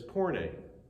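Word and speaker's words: πόρνη: Pronunciation of this is porne.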